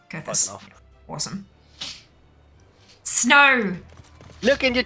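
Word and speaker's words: Coerthas: I am pronouncing it vaguely correctly, yeah? Yeah, it's Kurthas. Okay, Kurthas.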